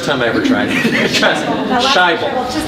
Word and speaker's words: Sajbel: Sajbel.